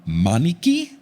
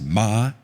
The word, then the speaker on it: Maniki: It's from Maniki. They put pronounced Ma-Ni-Ki. So Maniki.